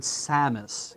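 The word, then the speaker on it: Saamis: The name derives from the word Samus, S-A-A-M-I-S, as we would spell it with English characters.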